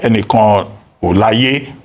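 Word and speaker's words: Enikanolaiye: Now, as for foreign direct investment, Shola Enikan Olaye, that's the correct pronunciation. Ambassador Shola Enikan Olaye.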